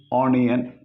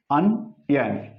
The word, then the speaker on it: onion: So here, O is there. So usually this is pronounced in India, onion, not especially in Kerala. It is pronounced onion. But it is onion. So this is the symbol for A.